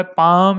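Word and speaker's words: palm: व जो है वह पांव इसके अंदर l जो है वह साइलेंट है इसको हथेली और हमने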